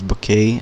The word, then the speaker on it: Bucket: that um the the people the other people pronounce this bouquet and if you know that show bouquet but